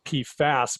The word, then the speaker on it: PFAS: instead here so it's in terms of the the pronounciation you'll note that this p foss is this specific individual pee fast compound and I like to use P fast when we're talking about the family of compounds just to distinguish to